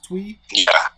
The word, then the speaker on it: Twi: here that's the tree twi tui let's pronounce tweet okay three yeah three yeah